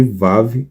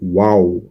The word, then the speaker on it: Waw: Ao invés de chamarem de Vav, a chamam de Waw.